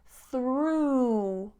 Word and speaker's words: through: the description for you so we have ooh ooh through through for example the dog jumped through the hoop the dog jumped through the hoop through the next one is